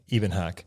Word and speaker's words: Ebenhoch: Ebenhoch. Ebenhock. I mean, if you say it the way my dad says it, it's Ebenhoch. Ebenhoch.